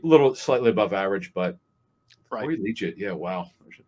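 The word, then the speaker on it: Liuget: high school legit yeah i think it's pronounced legit either way we know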